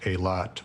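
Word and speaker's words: Eylath: mass yeah i mean my last name is spelled e-y-l-a-t-h phonetically and it's pronounced a lot with a hard t and i've spent most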